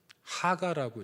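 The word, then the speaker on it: הגה: 자, 묵상이라는 단어의 히브리어가 요거예요. 하가라고 읽어요. 하가.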